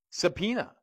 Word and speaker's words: subpoena: my blame same thing subpoena in fact in the Latin it would be pronounced sub poena poena means penalty sub is a type